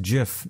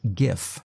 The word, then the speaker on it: GIF: Change GIF and that is pronounced GIF, not GIF.